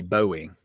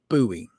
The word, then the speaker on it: buoy: You know, when we new people that come here to do weather, they always pronounce buoy boowing. I'm like, "No, it's buoy.